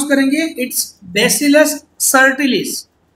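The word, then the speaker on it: subtilis: सो इन bacteria, यहां पर एक एग्जांपल लिया है बैक्टीरिया का, कैसे प्रोनाउंस करेंगे, इट्स बेसिलस सर्टिलिस, बी साइलेंट है, सब टिलिस नहीं बोलना है, सर्टिलिस, बेसिलस सर्टिलिस, द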